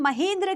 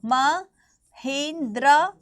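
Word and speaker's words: Mahendra: देखो महेंद्र आप लिखेंगे, इसको प्रोनाउंसिएशन आप इसकी महेंद्रा एंड महेंद्र दोनों कर सकते हैं। महेंद्र हिंदी प्रोनाउंसिएशन होती है, महेंद्रा इंग्लिश प्रोनाउंसिएशन होती है।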